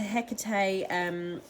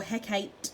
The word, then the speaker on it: Hecate: bubble and then into Hecate or Hecate sorry as they pronounce it in Shakespearean times and she comes in